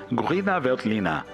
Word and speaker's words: Grüner Veltliner: A Riesling também é importante na Áustria, apesar de perder espaço na mídia para a uva nacional chamada Grüner Veltliner, ou, melhorando a pronúncia, Grüner Veltliner.